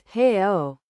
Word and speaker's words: real: In Spanish. It would be pronounced in 2 syllables. Like real. It still makes sense to an English speaker. But in Brazilian Portuguese, it was real. The leading R had become an H.